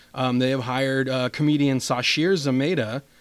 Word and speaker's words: Zamata: And so basically today they announced they have hired comedian Sashir Zamata. I think she pronounces it Zamata. It looks like Zamata.